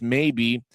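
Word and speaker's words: Maye: some first period highlights maybe. as they show Samuel May even the pronunciation guide says that's his name even though it's spelled m- a ye may has got 10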